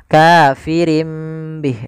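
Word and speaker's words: كافر به: Bih awalnya kafirin Bih karena dia ganti suara nunnya kafirim Bih diganti dengan huruf mim kemudian ketika kita melafalkan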